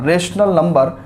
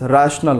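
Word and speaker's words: rational: और टॉपिक जो हम लोग पढ़ने वाले हैं इस वीडियो में that is रैशनल number and there decimal expansion. So correct pronunciation is रैशनल number, right, it's नॉट रेशनल।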